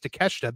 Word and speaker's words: Takeshita: Also, I hope Swerve versus Takeshita, because apparently that is how you say that word, I've been told. Tomorrow isn't a spot fest. In the headlock headlines, I said Takeshita, and somebody was like, "Are you doing that on purpose?"